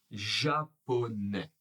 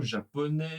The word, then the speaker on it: japonais: Alors le premier, c'est le nouveau restaurant japonais. Attention à la prononciation hein. Le T de restaurant est silencieux. Le S de japonais est silencieux également.